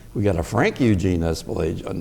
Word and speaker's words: Espelage: Frank, if you would, what is the correct pronunciation of your last name? Espelage. Espelage.